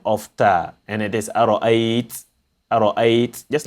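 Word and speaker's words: أَرَأَيْتَ: Here, if we are stopping only, we say ara'ayta, ara'ayt. We don't say ara'ayta. We say ara'ayt because we are stopping on it.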